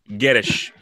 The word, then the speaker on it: Guedes: Can I just correct the pronunciation? I don't want to be anal, but No one cares. No one cares. No. I what's the pronoun? What's the correct pronoun? it's Gedge. Gettish. Yes.